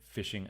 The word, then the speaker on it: phishing: spam filter to prevent phishing attacks? This is an excellent question. Phishing attacks, if you're a little bit new to this new word that sounds like fish but is spelled like a BH, what actually is it?